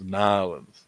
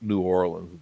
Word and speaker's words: New Orleans: Yeah, it's Nolans. Not New Orleans. Nolans. You got to say it right.